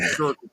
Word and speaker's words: Schertz: It's actually called Schertz. Yes, no, it's to spell it out. It's SCHERTZ. It's like So a it's suburb. pronounced the same as like a t-shirt.